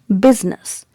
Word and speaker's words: business: is pronounced as and the stress is given on the first syllable that means when you pronounce this word you'll emphasize letter b okay so how to pronounce it business business business okay biz